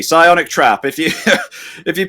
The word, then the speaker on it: Psionic: I forgot you need to do not pronounce the P. Psionic Trap.